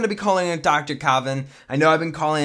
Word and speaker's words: Kavan: be using Dr Coven cavan okay it it's pronounced Kavin that's how a guy in my comments has